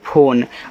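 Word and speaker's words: phone: इस इ का उच्चारण नहीं करना है।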